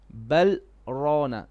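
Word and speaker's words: بَلْ رَانَ: Here we do satka, whereby you say bal, you still pronounce the lam. You do not change breath, you just pause. You say kalla bal rana, bal rana.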